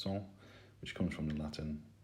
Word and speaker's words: cent: which you may know in french is a hundred pronounced song which comes from the